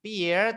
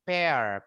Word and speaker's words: pear: Bacanya bukan peer tapi pair.